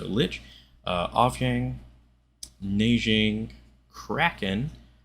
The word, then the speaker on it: lich: monk glitch lich lick i pronounced it lick last time and it felt weird so lich uh off yang nijing